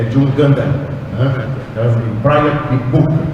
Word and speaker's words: Kibuuka: Brian Ibuka, é isso, né? Assim que se pronuncia.